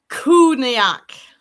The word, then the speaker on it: Cù-Sìth: Cù-Sith. Okay. So, the K has an H after it, although it's written with a C.